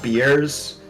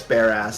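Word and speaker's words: Bearss: of like in Florida there's that street that's pronounced beers but everyone just says bare ass Avenue you know the one thing it's bears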